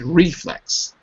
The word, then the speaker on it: reflex: Is it reflex or is it reflex? Reflex. Reflex. Right. First syllable. First, reflex.